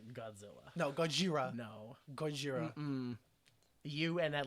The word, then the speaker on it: Gojira: it's pronounced Gojira.